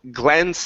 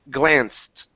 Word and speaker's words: glanced: Instead of glanced, the word is glanced with a T.